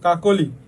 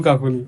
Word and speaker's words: কাকলি: তারপরে কি বলছে দেখ অধনির পরে যদি উ অথবা সরি অথবা ইকার উকার থাকে তাইলে কি হবে তাইলে ওযে স উচ্চার মানে অ থাকবে না ও হয়ে যাবে দেখ কি বলছে কাকলি ফার্নিচার না কাকলি এটা ফার্নিচার না এটা শুধু কাকলি ঠিক আছে কাকলি তারপরে